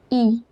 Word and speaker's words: y: It is pronounced as E and it means there.